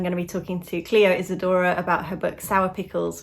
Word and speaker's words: Clio Isadora: chat with cleo so i'm here with cleo isadora am i pronouncing your name correctly yeah okay that's good um